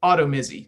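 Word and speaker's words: Automizy: again let the audience know how do you spell it auto mitzi and i will it's a it's a a-u-t-o-m-i-z-y so autumn auto mizzy sorry um and the really cool thing about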